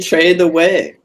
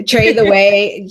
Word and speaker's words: Tretheway: so how do you trade the way i trade the way see now you're just going to confuse people I tell people that it rhymes with take your breath away truffle there you go